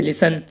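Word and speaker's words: listen: अब इसमें वर्ड के लास्ट में टी ई एन है तो गाइस इसमें टी साइलेंट है। ऑफन, ऑफन की हिंदी है प्रेयर। ऐसी और भी एग्जाम्पल हैं, जैसे लिसन, लिसन की हिंदी है सुनना।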